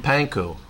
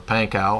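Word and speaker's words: Pankiw: Jim Pankow, or Pankow, I guess is how you pronounce it, who's an MP in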